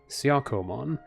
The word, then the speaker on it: Siakomon: Siakomon. Have to say it with the Japanese syllables.